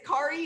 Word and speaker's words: Kari: i like it and your name is kari is that how you pronounce it yes got it okay very